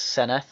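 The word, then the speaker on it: Senedd: yes the senate yes you do say it's seneth i've been learning a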